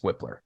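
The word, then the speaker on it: Wypler: I mean, but honestly, yeah, it's pronounced Whippler. Okay. Because that would have driven me nuts for the next 3 months. Cool Whip. Yeah, cool Whippler.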